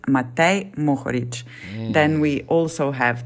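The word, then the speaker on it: Matej Mohorič: So first name and the last name, it's Matej Mohoric.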